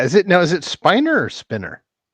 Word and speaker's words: Spiner: He used to say look what it's actually spinner and a certain point he's like you know what I love the fans and they're used to calling me spiner.